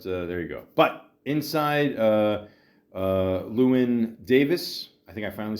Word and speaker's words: Llewyn Davis: But inside, Llewyn Davis, I think I finally said it right, is a good movie.